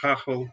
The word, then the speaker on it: Gagel: And of course, my last name, Gagel, pronounced Gachel in Holland.